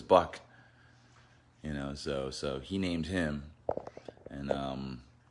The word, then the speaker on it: Buck: So he called him Buck, but he called him, the way he pronounced it sounded like Book, but it was Buck.